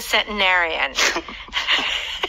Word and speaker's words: centenarian: Okay, it says Centenarian. Let's pronounce this word again. Centenarian. Sometimes people could say centenarian. Right. If you are American, that first T, or the only T, you might it. Mountain. Button. Cotton.